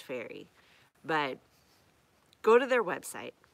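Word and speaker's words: Ferrie: It's pronounced Fairy.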